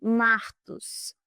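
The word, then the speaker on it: μάρτυς: Já no grego original, a palavra, essa aqui, pronuncia-se martos, significa testemunha.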